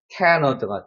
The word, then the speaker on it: Canada: 자, 여기 같은 경우는 강세가 여기 존재하기 때문에 여기는 슈아 발음이 되기 때문에 Canada가 돼요. Canada. 그래서 우리가 알고 있는 캐나다가 아니고 실제로는 Canada가 되는 거죠. Canada. 여기만 강세가 들어가는 거예요.